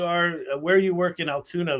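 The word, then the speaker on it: Altoona: Spelled with O's and not a U. Correct. Correct. Sounds like Toon Town. Yes. Toontown. Yes.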